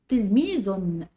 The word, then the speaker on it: تلميذ: تلميذ فيها ايه؟ فيها تنوين، والتنوين دي عبارة عن نون بتنطق ولا تكتب، يبقى معانا كلمة تلميذ.